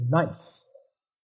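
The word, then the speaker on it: gneiss: in the Southeast are it's actually made of nice if I'm pronouncing that correctly yeah yeah that's yeah nice as a metamorphic rock and one of the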